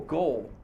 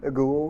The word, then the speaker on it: ghoul: away what's a feral goal feral goal it's pronounced ghoul by the way like the ghost ghoul oh gold yikes sam